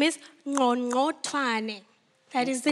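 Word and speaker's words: Qongqothwane: It's known as the Click song because they could not pronounce the original name. The original name is Ngongothwane. That is the name. Ngongothwane. Ngongothwane.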